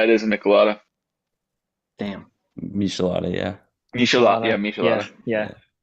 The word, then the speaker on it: Michelada: Michelada, yeah. Michelada, yeah, Michelada. Yeah. Final? Yeah. Max giving a correct pronunciation to redeem Max.